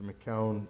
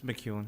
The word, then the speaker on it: McEwen: And this one, I think, as Mr. McCown has indicated, did I say it right? It's McEwen, yeah. McEwen, all right.